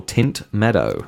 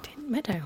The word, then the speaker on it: Tynt Meadow: Look out for Tint Meadow. Tint Meadow. That is Tynt Meadow, spelled like meadow.